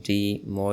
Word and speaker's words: DIMO: Uh yes, it is pronounced DO.